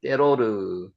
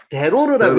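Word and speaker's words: דְּרוֹר: 때로르입니다. 때로르. 대로르라고 했는데 여기 경강점이 하나 찍혀서 여기 된발음이 납니다. 그래서 때로르라고 했습니다.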